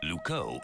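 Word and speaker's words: Loucaux: wrong now what's wrong lco doesn't really rhyme with Bordeaux it's spelled completely differently really lco is spelled l o u c a u x you can't write limmer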